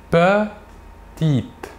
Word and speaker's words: petite: En fin de mot, le E ne se prononce pas. Il est dit muet. Nous dirons donc petite.